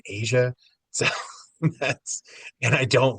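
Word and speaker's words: Aja: I knew that people pronounced it Asia, so that's And I don't listen to Steely Dan.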